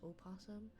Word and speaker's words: opossum: But it's not the like formal way of saying possum, that even if it's spelled with an O, it's still pronounced possum.